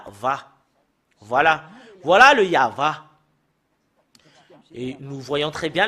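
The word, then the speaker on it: יהוה: tetragramme Yod c'est ça qu'on le prononce c'est yava parce que nous voyons déjà et voilà c'est y a la première partie voilà voilà c'est a et l'autre partie c'est va et cette partie là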